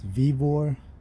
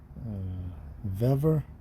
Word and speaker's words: Vevor: I don't know if it's Vevor. Vevor. I think a couple people online call it Vevor, like a beaver.